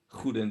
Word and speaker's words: Goedendag: Well, it was close, but you pronounced it German. What am I? Okay, what's the pronunciation in Dutch? Goedendag.